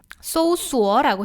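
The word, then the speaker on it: 搜索: 소수어라고 해요. 검색은 소수어. S-O-U. S는 쌍시옷으로 발음이 되고 O는 O, U는 U로 발음이 되죠.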